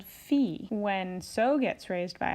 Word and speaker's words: Fi: solfege syllable is Li notice that all of the raised solfege syllables end with the letter I or the sound e so we're just changing the vowel sound on the regular solfege syllables so dough when it's raised a half step becomes D ray becomes REE becomes fee so will become C and law becomes Li so that's a good